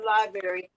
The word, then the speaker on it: LBRY: I want to go straight to library.